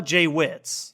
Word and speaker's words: JWittz: It's actually pronounced the JWittz.